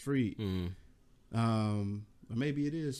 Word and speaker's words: Fried: It looked like Fried, but it's pronounced Freed.